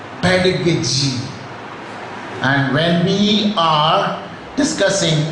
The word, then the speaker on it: pedagogy: They call it pedagogy and they call it in different ways. The actual pronunciation is pedagogy.